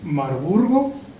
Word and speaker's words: Marburg: parte la escuela de marburgo la pronunciación correcta es marburg y por otro lado